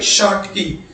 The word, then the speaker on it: Schottky: ये जो लिखा हुआ प्रोनाउंसिएशन क्या होगा, SCHOTTKY शॉर्ट की, दूसरा क्या, फ्रैंकल।